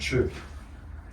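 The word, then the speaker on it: chih: Wen and chur. Wen is spelled W-E-N, and chur is spelled C-H-I-H.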